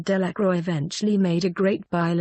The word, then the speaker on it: Delacroix: Jones and Dicky delaqua the villagers pronounced this name Delacroix eventually made a great